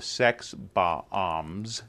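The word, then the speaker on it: Sex Bob-omb: He's sort of a slacker living in Toronto, plays in a rock band called the Sex Bombs.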